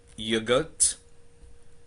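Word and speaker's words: yoghurt: We have here the word yogurt. Yogurt. Take care, H here is silent.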